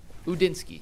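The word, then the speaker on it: Udinski: Udinsky.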